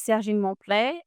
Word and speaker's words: Serigne Mo: My name is Sjin Mé. It's a French name.